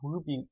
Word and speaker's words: RWBY: In meinem heutigen Tutorial-Video möchte ich euch zeigen, wie ich das Pyjama-Oberteil von Ruby Rose aus der Serie RWBY, auch Ruby ausgesprochen, gemacht habe.